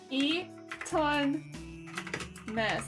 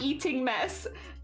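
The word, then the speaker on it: Eton mess: like eon eon mess Eaton mess I believe that's how it's spelled Eaton mess not like eating mess and it's like a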